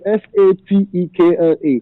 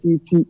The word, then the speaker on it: Satekla: It's actually like it's Satekla. But don't pronounce it Sete. You know, people spell it Sete, but it's Satekla.